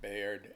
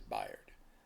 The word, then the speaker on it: Bayard: knew about him, um, I'm stuck with Bayard. And I will issue an apology right at the top of this video for mispronouncing his name if in fact it is Bard. Um, because even though I try to say Bard, it just doesn't come out.